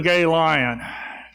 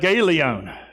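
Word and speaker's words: Galion: How are things up there in Gay Lion? Well, I don't know. You pronounce that Galeon.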